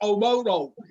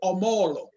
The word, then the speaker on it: Omolo: My name is Omoro. He can't say Omolo because he has not been schooled that way.